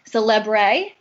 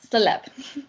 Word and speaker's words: Célèbre: it would sound like Célèbre. So if you're trying to think of how to actually spell it, so it's Celebre. Perfect. But it's pronounced Célèbre.